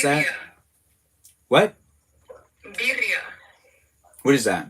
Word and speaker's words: Birria: Have I ever had a birad? I don't understand what that is. Can you pronounce that? What? Birria.